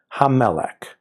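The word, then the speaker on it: המלך: So ha, plus the first mem, then the next mem, melech. I'm exaggerating the pronunciation, you barely hear it. Ha-melech, ha-melech.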